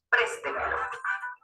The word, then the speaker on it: préstemelo: Por ejemplo, préstemelo. Al decir la palabra préstemelo, vamos a identificar cuál es la sílaba que tiene el mayor golpe de voz.